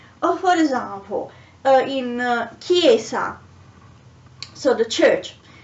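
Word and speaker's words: chiesa: for example uh in kiesa so the church after the letter c there is the letter h so it's pronounced k so let's say it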